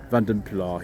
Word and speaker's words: Vanden Plas: Another Vanden Plas here, and that is the pronunciation we're using today.